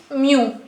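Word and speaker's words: μ: raw moments generally we indic at moments with mu okay this is the letter which we pronounce as Mu I think you already knew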